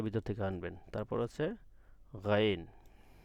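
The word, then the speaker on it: غين: গইনটা কীভাবে কীভাবে উচ্চারণ হবে, গইনটা ভিতর থেকে আসবে, গলার ভিতর থেকে। একটু ওয়েট, পানি খেয়ে নিই। তো গইনটা কোথা থেকে আসবে, এই গলার ভিতর থেকে আসবে। গইন, গইন, মানে আইনটা যেভাবে উচ্চারণ গলার একেবারে ভিতর থেকে আসবে, গইনটা কিন্তু ওইভাবে না, গইনটা সাধারণই হবে, নর্মালি হবে গইন, ঠিক আছে, এভাবে উচ্চারণ করবেন।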